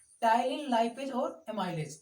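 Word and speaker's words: टायलिन: ये देखो ptyalin P से लिखा है ये तो, लेकिन इसका प्रोनाउंस टी से ही होगा, टाइलिन ही होगा। पी से लिखा जाता है पर प्रोनाउंस हम टी से करेंगे इसका।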